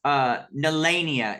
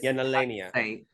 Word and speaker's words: Nalania: Up next we have, now we've been saying her name wrong. Somebody corrected me. Nalania is Nalania. Which honestly is easier to say because girl, when I had to add that H, Nalania, like, girl. But Nalania for sure.